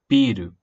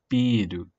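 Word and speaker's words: ビール: If you do not hold the sound on the first syllable, biru, that means building or build. But if you hold the first accent, or the first syllable, biru, biru, that is beer. That may appear later.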